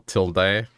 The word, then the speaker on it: Tilde: Like, people pronounce it Tilda or Tilde, and both are acceptable. But a couple of times I've also gotten Tilde, and I'm like, what, Tilde? That one doesn't make sense to me.